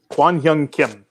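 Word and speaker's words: Kwang Hyun Kim: K Young Kim? Is that how you say his name? Kwon Young Kim.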